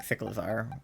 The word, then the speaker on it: Cyclizar: And then Cyclizar, because it's like a bicycle, Izar, when I was saying Cyclizar, which I guess Cyclizar makes a bit more sense. I don't know why I was pronouncing it Cyclizar, but I think I was thinking like cyclical instead of cycle, which is the same